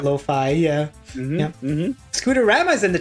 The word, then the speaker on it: Lo-Fi: Because I know sometimes like I is pronounced as E, so I didn't know if it was like I didn't know the exact way to pronounce it, but finally I've got it stuck in my head like hi-fi, lo-fi.